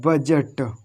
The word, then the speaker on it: budget: अब देखो आगे यहाँ पर लिखा हुआ है बजट, बजट, BUDGET, बजट, बजट। अब देखो यहाँ पर भी डी नहीं पड़ा, क्योंकि हमने पहले ही लिखा दिया कि अगर जी से पहले डी आ जाए तो डी साइलेंट।